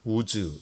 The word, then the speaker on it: 우스: 가우스 땅이다 이렇게 얘기합니다 웃으라고 하는 것을 원래 발음은 우즈 비다 우주 어 우리 영어 이름 중에 우주 라는 이름이 있죠 그게 아마 이 욥의 있는 이 우스 땅에 과 관련이 있는